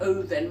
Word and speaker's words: oven: To heat vuol dire riscaldare, attenzione alla parola oven, è scritta come se si dovesse pronunciare oven, ma invece si pronuncia con una O aperta, oven.